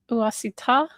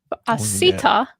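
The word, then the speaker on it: עָשִׂיתָ: V'lekachta kesef v'zahav uasita. Oh, sorry, I put the emphasis on the wrong syllable. Asita. Good.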